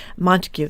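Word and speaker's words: Montague: Ryan and Sarah Volen, coowners of Redf Firefarm and Granby and Montikue.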